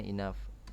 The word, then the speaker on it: enough: udah tahu ya enteni Naff ini bacanya ih hai hinab Hai enough nih bacanya Inaf artinya apa Hai cukup